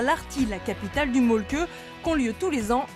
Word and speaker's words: Mölkky: Ça s'écrit molki, mais ça se prononce molke. Le molku. Plutôt un E qu'un E, mais pas un U. Donc ça fait molke. Le Y se dit avec le E de œuf.